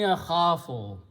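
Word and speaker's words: أَخَافُ: If I apply that here, this waw, because of it has a fatha, will change into the sound of alif and will become akhafu.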